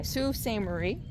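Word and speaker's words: Sault Ste. Marie: Sue St. Marie.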